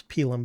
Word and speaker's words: pilum: The proper word was pilum, by the way. I think I mispronounced that.